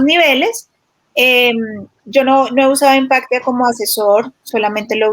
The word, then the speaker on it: Impactia: Impactia. Se escribe INN Pactia.